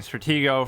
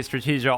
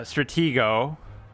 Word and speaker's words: Stratego: just called like play strategio online or play strategio uh Stratego I think is how you say it I keep saying it wrong but whatever um and